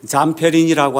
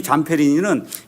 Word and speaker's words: Zamperini: 이 자서전은 루이 잠페리니라고 하는 사람의 자서전이에요.